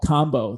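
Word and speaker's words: kambo: that you can do called combo spelled like rambo but with a k k a mbo and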